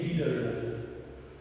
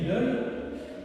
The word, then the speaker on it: Liddell: je veux parler d'Eric Lidl rien à voir avec le supermarché li lid on peut-êre prononcer lid le nom de cet